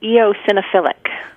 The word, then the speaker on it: eosinophilic: diagnosed our cat Mr softi with is it eosinophilic keratitis or asoph philic oric EO eosinophilic oh all right eosinophilic keratitis all right that's what you're trying to say it is what I'm trying to say eosinophilic keratitis his case is pretty far along because